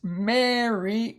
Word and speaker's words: Mary: is a pretty tricky when it's not Mar he's not ARR it's Mary and I believe because the a is at the end of the syllable huh Mary Mary next